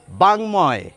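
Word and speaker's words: বাঙ্ময়: বাংময়, অনুসারের উচ্চারণ পাচ্ছেন, ময়ের উচ্চারণ পাচ্ছেন।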